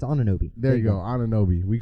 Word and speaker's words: Anunoby: It's Anunoby.